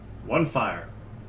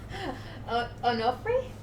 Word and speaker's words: Onofre: I actually had to take a second look because I kept pronouncing it like one fire.